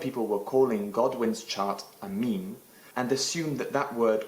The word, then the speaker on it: meme: One thing I want to say before I go is that just because the original pronunciation in English is meme, it doesn't mean that people when they speak Spanish should say, "Ay, mira estos memes que tengo."